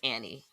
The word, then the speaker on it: Ani: I'm saying Anie, but it's Annie. Annie. It's spelled. It's written like Anie, though.